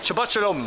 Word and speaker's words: Shabbat Shalom: Shabbat Shalom tonight. That's how you say it. Shabbat Shalom.